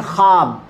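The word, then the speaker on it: خواب: एक ल बोलते हैं खवाब तो उसको लोग बोलते हैं ख्वाब वाव उसम साइलेंट है वाव को अगर पढ़ा जाए ख्वाब बोला जाए तो यह गलत उर्दू है वो ख्वाब है इसी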